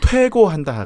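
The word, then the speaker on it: 推敲: 추고라고 읽으면 안 된다. 퇴고.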